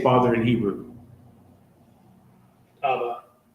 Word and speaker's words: Abba: Abba. Right. What is that in Hebrew? The ah and the ba, right? The ah and the ba, right?